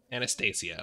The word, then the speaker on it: Anastasia: learned hey how do you say your name Anastasia okay there we go all right now we